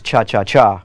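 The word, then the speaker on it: cha-cha-chá: the Chacha group actually the correct pronunciation is cha cha cha with three that's right is most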